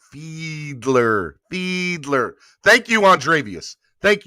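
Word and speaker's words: Fiedler: a beast a beach it's fielder not fielder pronounced like feedler feedler thank you andrevius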